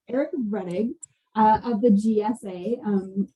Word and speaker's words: Rettig: how do you say your last name eric reddick that's what i was gonna say eric reddig uh of the gsa um talking to us